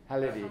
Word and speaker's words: Khalidi: Do I pronounce his name right? What? Khalidi.